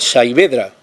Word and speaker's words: Saavedra: investigadores que dicen que viene de un dialecto árabe magrebí y se pronuncia casi como en español sabedra y significa brazo tullido o estropeado por lo que Cervantes en argel pudo ser llamado savedra a saber manco es